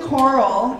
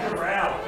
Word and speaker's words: Corral: So, May 21st, 8 a.m., Golden Coral in Maplewood, Minnesota. Yeah. That sounds pretty fancy. Oh, it's not? Golden Corral. Corral. All right, thank you. Glad I have my pronunciation check over there.